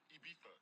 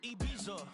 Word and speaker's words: Ibiza: Ibiza. Yeah, it's pronounced Ibiza, actually. Yeah. What's the difference, man? Ibiza, Ibiza, you won't see me in neither.